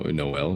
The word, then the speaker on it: Noel: I knew a guy named uh No, Noel. He was Jamaican. N O E L. Wait, no. He was in Jamaican. Did you stress like the the the last syllable?